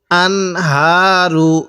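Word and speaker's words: الأنهار: হা র পেশ রু আনহারু কিভাবে পড়বো আনহারু এই হা টা উচ্চারণের সময় হালকা আওয়াজ বের করব আর এই যে হাটি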